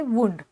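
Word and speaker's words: wound: हा शब्द वापरलात तर त्याचा उच्चार आहे वुंड ठीक आहे ऍक्च्युली वाईंडचा पास्ट टेन्स आहे तिथे आपण उच्चार करताना वाउंड असा उच्चार करतो स्पेलिंग सेम आहे फक्त इथे आपण ज्या वेळेस वी वन म्हणून वुंड हा शब्द वापरतो त्यावेळेस तिथे स्पेलिंग जरी सेम असेल तरीही आपल्याला उच्चार वुंड असाच करायचा आहे आणि याचं जे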